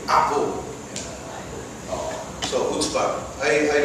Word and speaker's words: chutzpah: It's spelled C-H-U-T-Z-B-A-H. It's called chutzpah. Actually, it's chutzpah.